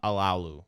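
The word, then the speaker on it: Alualu: I think asking them to be 3 with losing Bud Dupree, losing Mike Hilton, losing Tyson Alalu, right? That's how you pronounce his name.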